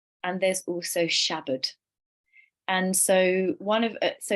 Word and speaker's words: Shabad: becomes our teacher and if you break down the word shabd sha just means ego and Bud which is spelled bad but Bud so Shabad the bud means to